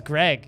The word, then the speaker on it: Greg: narf unlike you guys the g in my name is not silent my name is greg that'd be really weird